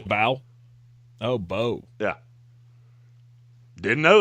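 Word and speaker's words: Mbow: Yeah, the M's silent. It's Marcus B. Bow. Oh, Bo. Yeah, didn't know that. Pretty sure I called him imbal to his face and didn't mean to.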